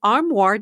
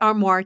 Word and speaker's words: Armoire: Style datatable that is armoire. style that's spelled a r m o i r e.